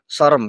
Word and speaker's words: Sorem: Eh mas sorem i apa pengucapannya sor sorem karena itu bahasa Madura jadi ee kondisi temaram